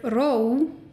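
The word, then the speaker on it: ró: the e and vowel for example in the word Rome meaning calm or peace there's an accent on the O which makes it a diphthong and the O moves towards an oval vowel in this case in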